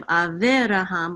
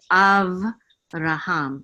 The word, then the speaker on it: Avraham: The only thing is that the shava in the middle of the word is usually silent. So instead of Aviraham, we're just going to say Avraham, and we're not going to pronounce the shava.